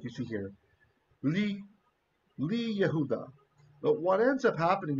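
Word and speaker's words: יהודה: So what happens is the word Judah, Yehuda, the yod has lost its value as a consonant, and he's part of the vowel.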